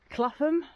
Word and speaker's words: Clapham: for the village so we're just coming into clatham that's how you say it village so it's